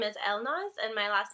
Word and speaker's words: Elnaz: to say it but my first name is Elmo's and my last name is behind guys so